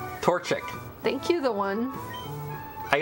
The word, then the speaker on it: Torchic: up like crazy right Torchic thank you the one I guess I should learn how to say the name of got my starter guy Torchic Torchic tor tor is a torch Sheik a torturer can I